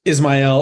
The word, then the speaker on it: Ismail: yes you know uh Ismael or Ismail if you're you know a Hispanic background they they pronounce it that way but Ismail is just fine thank you okay great